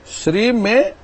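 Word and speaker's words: श्रीं: ले ओम श्रीम नमः श्री में श्री के ऊपर अनुस्वार है और इस प्र प्रकार से श्रीम शब्द बनता है श्रीम शब्द का उसमें नाकार उच्चारण नहीं है मकार का उच्चारण है ऐसा इस मंत्र का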